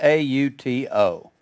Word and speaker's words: auto: rebuked him jesus rebuked a-u-t-o it's pronounced auto that omega is pronounced just like our word o auto and an automobile